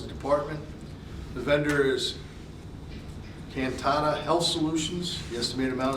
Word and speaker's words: Cantata: The scope of service is 2026 contract with Cantata Health. It's 100% county funded, and it's from 1/26 through 12/31/26. Yes, and you pronounced that correctly.